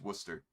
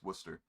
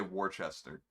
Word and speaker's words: Worcester: the 1800s it's just worcester that's all it is worcester you don't pronounce the r whatsoever people say worchester so if you ever